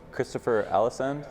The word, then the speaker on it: Christopher Alesund: All right, I'm here with GeT, Christopher Allisand. Is that how you pronounce it?